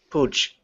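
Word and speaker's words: Puig: a catalan i guess it's a catalan name like a soft chip pooch like that like pooch like like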